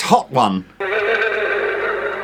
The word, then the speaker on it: Hotone: Strictly speaking, it's pronounced... Well, it's... Hotone. It's Hot One.